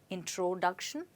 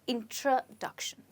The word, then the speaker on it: introduction: that's right my friends you don't say it introduction but you call it as introduction let's try it again introduction so where do you think the stresses well the stress is on this syllable and remember that the stress before shun is always on the syllable before that okay so it's introduction